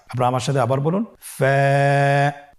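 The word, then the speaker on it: ف: ফা হরফটি উচ্চারণের ক্ষেত্রে বারিক হবে এবং এক আলিফ টেনে পড়তে হবে। আপনারা আমার সাথে আবার বলুন ফা স্ক্রিনে দেখতে পাচ্ছেন ফা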